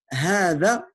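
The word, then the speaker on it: هذا: La première syllabe est longue. Donc là, il t'explique un peu pourquoi. Regardez. Elle est longue, mais elle est écrite courte. Regardez. Elle est longue, bien que son allongement ne soit pas généralement marqué dans l'écriture ou marqué seulement par un alif subscrit.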